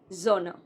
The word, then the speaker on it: genre: Next is, this is not genre. Very common word. Not genre, but genre. Genre.